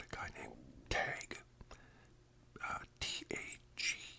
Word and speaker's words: Tage: guy named tag uh t a g e spell Tage pronounced tag and uh anyways so